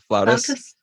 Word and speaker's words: flautist: Flautist?